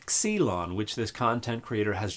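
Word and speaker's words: ξύλον: And pronouncing xilon or xulon as exelon indicates that you do not have the first clue what you're talking about when it comes to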